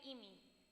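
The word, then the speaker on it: 意味: Or we can call it imi. That's how you pronounce it in Japanese.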